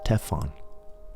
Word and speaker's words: Estefan: had never existed before stefan became estefan pronounced as teffon and my last name